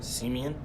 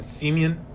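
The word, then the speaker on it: Simien: Simeon. Justin Simeon. It still sounds like semen though.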